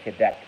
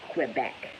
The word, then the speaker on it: Quebec: By the way, I love how Americans say Quebec. They say Quebec. It's Quebec, motherfucker.